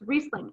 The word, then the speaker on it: Riesling: of saying it because our eye you would pronounce the i but in the case of german it's riesling and that could be really helpful when you're